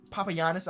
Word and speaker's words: Papagiannis: Papagiannis. I know it's how you pronounce his last name.